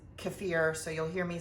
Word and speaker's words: kefir: And I should I should pull over to the side and say kafir keir. It really doesn't matter how you say it. Uh, everybody says it different. I think the actual pronunciation is kafir.